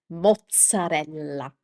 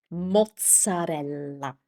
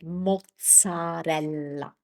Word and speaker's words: mozzarella: mozzarella mozzarella My tip here is pronounce every single vowel. So, don't shorten it up and say mozzarella. Take your time to say every single vowel and the double consonants, too.